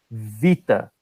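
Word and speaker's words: βήτα: você, essa letra aqui, no grego moderno, ela tem som de V. Então ele fala vita, porque essa letra aqui também tem som de I no grego moderno.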